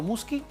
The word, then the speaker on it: Muschi: Doctor Muschi, no sé si estoy pronunciando bien su apellido ante todo. ¿Es correcto, Muschi?